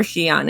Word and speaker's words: Xian: And by the way, it's Xian or Xian, in case anyone was wondering.